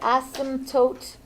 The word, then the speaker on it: asymptotes: my typo the word asymptotes has a P in it you will never hear this when it goes to the bathroom because the P is silent but it's there I